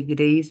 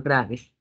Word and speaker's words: Graves: y es enfermedad de Grace paseo no es gratis como dice midd War no o si quiere en los apellidos decir lo bueno en español graves pero se pronuncia Grace y este siempre También